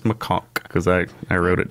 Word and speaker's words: macaque: trust me yeah but no it's pronounced macaque cuz I I wrote